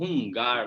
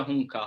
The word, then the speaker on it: Hung Gar: Vou falando como o pessoal conhece também como Hungar, né? Mas a pronúncia seria Hunka.